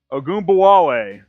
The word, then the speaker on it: Ogunbowale: Dare Ogunbowale. Ogunbowale. That's the pronunciation guy.